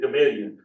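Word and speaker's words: Gamaliel: people from the community, it's not spelled this way, but the people from the community pronounce it Gamillion. But it looks a whole lot like Gamma to me. But I'll let them, I'll go with their experience and pronounce it like they do.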